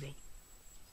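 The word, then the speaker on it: rho: liquid is row okay pronounce as row so the pressure exerted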